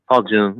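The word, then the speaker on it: Paul Junge: Paul Jung, yes.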